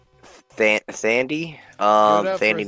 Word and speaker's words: Thandie: I'm not sure how you pronounce Thandie Newton. Thandie Newton. That's British Taffy, actress. That's Tandy Taffy Newton.